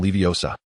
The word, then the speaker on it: Leviosa: Wingardium Leviosa.